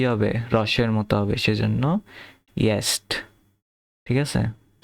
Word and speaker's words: jetzt: এখানে একটা জিনিস, এই যে jetzt, এটা যে উচ্চারণটা হইল, যে এর উচ্চারণ সবসময় কি হবে, রসের মতো হবে, সেজন্য ইয়েস্ট, ঠিক আছে, ইয়েস্ট।